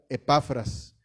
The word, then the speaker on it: Epafras: Espero estar pronunciándolo bien, dado que si no tiene acento en la E, aunque sea mayúscula, se debe pronunciar Epafras.